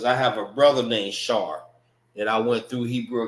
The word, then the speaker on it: Shar: Shar. Not Shara. It's Shar. Shar, S-H-A-R, forms one word.